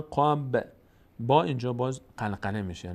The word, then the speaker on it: وقب: ا و ا و ا و و ا وقب با اینجا باز قلقله میشه مقداری در مخرجش میرز نمیگیم وقب وقب نه وقب زیاد حرکت نمیدیم که زیادم نمی